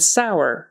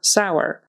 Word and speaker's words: sour: an o r and sour is pronounced as if it were a o w r kind of thing so poor sour and